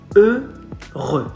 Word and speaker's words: heureux: Heureux. Not heureux. Not heureux. Heureux. No. Heureux. Sing. Être heureux. Heureux. Heureux. Not ou, not u, e. Heureux.